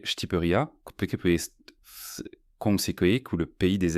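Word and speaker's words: Shqipëria: L'Albanie connue sous le nom de Schkiperia, enfin prononcé Shtiperia Keko ou le pays des aigles, porte en elle une profonde fierté culturelle et une riche en histoire.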